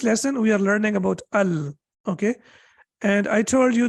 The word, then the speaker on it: ال: with we cannot say ul and we cannot say ill we have to say Al that's the only thing